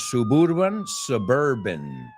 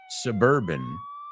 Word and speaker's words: suburban: Dos cosas, no es suburban, suburban New Jersey community.